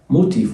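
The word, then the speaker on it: motifs: باشا الرسومات وال يعني لوتيف موتيف والاس ما بتتنطق الرسومات والنقوش الرسومات يعني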